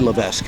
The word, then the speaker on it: Levesque: Levesque. Yes. I say Levesque. I pronounce it that way.